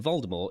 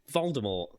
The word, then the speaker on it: Voldemort: Rowling previously stated that the T in Voldemort is silent as is in the French word for death more Jim Dale pronounced